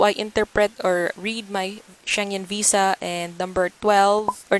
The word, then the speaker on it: Schengen: is it's pronounced as changing at all I was corrected by my cousin and I gotta balance a euro home ec - ID told last year and Sabina it's pronounced as Schengen we saw Bible anyways